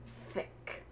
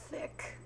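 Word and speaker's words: Thicke: the name thick Allan thick you pronounce thick by putting your upper teeth on your tongue Alan thick thick I'm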